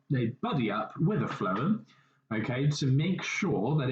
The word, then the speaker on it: phloem: left you will see what is called a phloem okay so the phloem is a funny word and you spell that with p h l o e m